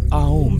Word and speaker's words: ओम: यहाँ पर ए is equal to आ, यू is equal two ओ और एम इज इक्वल टू मा है। यहाँ उसका सही प्रोनाउंसिएशन ओम नहीं बल्कि आओम है।